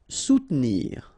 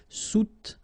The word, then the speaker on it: soutenir: Soutenir. Okay, so sous first, and then don't insist on this here. Soutenir.